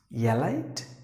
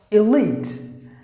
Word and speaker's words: elite: good the next word is yeah light no not at all the first letter should be pronounced like e as in E and the letter E is silent you know that because any would enter the letter e it is always silent so here it's a long sound you have to drag it like e elite that's the way you have to pronounce the word elite not